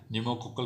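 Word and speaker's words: pneumococcal: निमोनिया से हो जाएगा, न्यूमोकोकल कॉन्जुगेट वैक्सीन बोला जाता है, ठीक है। न्यूमोकोकल में तो सर एन आ रहा है, लेकिन भैया साइलेंट है सामने पी, ठीक है।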